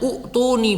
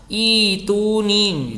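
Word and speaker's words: ائتوني: Kamu bisa bacanya utuni begitu, padahal yang benar adalah ituni gitu.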